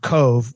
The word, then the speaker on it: Cobh: And then 7 people got off in Queenstown, which again is now was renamed Cove, and that's spelled COBH.